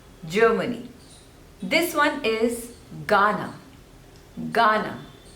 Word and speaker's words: Ghana: this one is Ghana Ghana so two slavers and stress is on the first one no Ghana Ghana Ghana next is